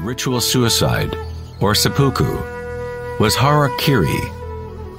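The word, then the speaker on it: hara-kiri: Form of ritual suicide, or seppuku, was harakiri, was often mispronounced as Harry Carey.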